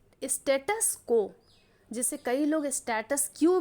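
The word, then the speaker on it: status quo: तो किसी भी चीज के प्रेजेंट कंडीशन को हम स्टेटस को बोलते हैं। लेकिन फिर भी मैं बताती हूँ कि बहुत लोग हमारा जो प्रोनाउंसिएशन है उसे स्टेटस क्यू बोलते हैं।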